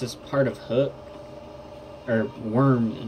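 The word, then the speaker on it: Werm: That was Worm, by the way. W-E-R-M. Don't know why, but it is spelled very funky.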